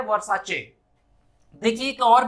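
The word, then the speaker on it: Versace: इन अ same way ये वर्सेस नहीं है, ये है वर्साचे।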